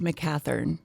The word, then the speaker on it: McEachern: this it's okay um it's pronounced mccathern th okay instead of a CH yes that's a difficult